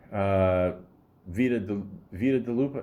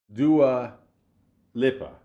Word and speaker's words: Dua Lipa: Vita DeLupa? No. Where is it? Dua Lipa.